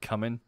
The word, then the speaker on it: cumin: spice cupboard and I didn't know how to pronounce cumin, so I called it cumin.